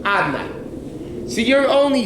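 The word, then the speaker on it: Adonai: But you read it, it's written Yud Kei Vav Kei, but you're pronouncing it Adnai.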